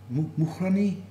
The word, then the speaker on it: Mukhrani: Mukrani. Actually, that's a perfect uh expression and the pronunciation. A lot of people are struggling with the letter, but And this is some 30 kilometers north of the capital.